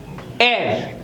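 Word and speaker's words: heir: न इट इज नॉट हेयर this is called एर एर का मीनिंग होता है वारिस जिसको कोई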